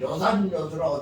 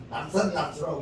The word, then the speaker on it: 요산요수: 무등산 가면 요산요수라고 된 것을 낙산낙수라고 읽으면 안 된다니요.